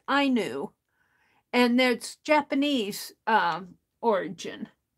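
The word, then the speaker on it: auni: very well uh is what I call that I knew Stitch it was really interesting kind of looking up the meaning it's spelled a-u-n-i but it's spelled it's pronounced I knew and that's Japanese um origin and then there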